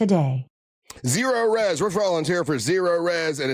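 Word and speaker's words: Zerorez: And that's Zero Res. It's spelled like this.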